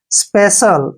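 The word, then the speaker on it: special: हैं ध्यान रखना है जब भी सी के बाद आई ए आई ई आई ओ आए तो सी को श से पढ़ते हैं जैसे स्पेशल स्पेशल में क्या है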